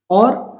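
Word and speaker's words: ऑ: इसका उच्चारण किया जाता है औ। औ ये भिन्न है आ और ओ से। इनके बीच की ध्वनि है ये औ।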